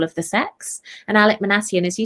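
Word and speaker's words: Minassian: How do you pronounce his name? Manassian.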